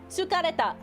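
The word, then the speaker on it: 疲れた: Tsukareta. Tsukareta. Oh, I could have done baseball. That'll be tomorrow. Tomorrow's word of the day, if I remember, will be for baseball. But today is tsukareta.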